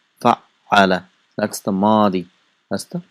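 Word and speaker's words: فعّل: How do we pronounce it? Fa'ala. And how is it written? It's written with shadda. Fa'ala.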